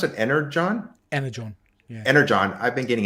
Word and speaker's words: Energon: But because of, how do you pronounce it? Energon? Energon.